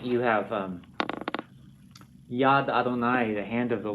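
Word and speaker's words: יָד: One of these, the yad.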